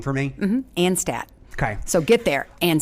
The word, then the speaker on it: Anstadt: a favor can we start with you correctly pronouncing your last name for me and Stat okay so get there and stats that's a